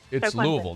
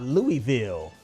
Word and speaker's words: Louisville: Clemson I'm doing Clemson I hate the way you say Louisville like it's a Louisville but it's not even a word louville that's how they say no that's not how you say it Louisville Louisville yeah I'm going Clemson